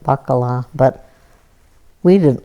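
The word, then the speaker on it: baccalà: a fish in that you said it right baccala but we didn't like it and it was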